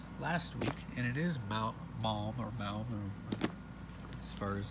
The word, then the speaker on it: Maugham: And we saw one of these, or yeah, this one's number 4 last week, and it is Maugham, or as far as how it's pronounced.